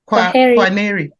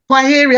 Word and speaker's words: Kwaheri: Kwaneri. How do you say? Kwaheri.